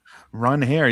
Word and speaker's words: Ranger: Ron Hair, yeah. I mean a G is a H sound in Spanish, but he just let everybody call him Ranger for his whole time in Philly and then